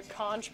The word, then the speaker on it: conch: How come in SpongeBob they say the magic conch? Because they're wrong. I've learned it from people who live in the Bahamas. Pronunciation, let's hear it. If it says conch, I'm gonna throw your phone.